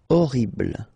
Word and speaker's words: Horrible: Okay, remember we don't pronounce H here. Horrible.